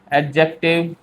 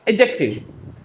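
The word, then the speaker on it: adjective: एडजेक्टिव हालांकि इसको एडजेक्टिव नहीं कहते। हमारे एक सर ने बोला था इसको कहते हैं एडजेक्टिव। डी साइलेंट होता है।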